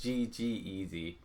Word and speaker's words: ggez: defining things so let's start with g eazy uh it's g g eazy however there's a wrapper called g eazy and that always just flows off the tongue easily for me so i may pronounce g-g-e-z as g-eazy over and over and over in the video i am sorry about that right so if you